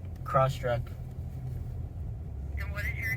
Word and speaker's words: Crosstrek: Crosstrack. Crosstrek. And what is your name? My name is Shafiq. Spell it.